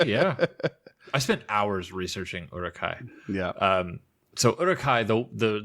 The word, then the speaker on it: Uruk-hai: At least in the original trilogy, they they say Uruk-hai, yeah. They don't say Yuruk. There's no yo yo yo sound.